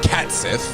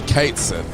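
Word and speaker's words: Cait Sith: it toow on and apparently we've been saying it wrong for years it's not cat Sith so some people say cat Sith cuz he's a cat and then people like it's actually Kate Sith and then other [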